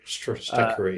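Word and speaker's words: Stratechery: Stretchery. Yeah, I've been pronouncing it wrong the whole time.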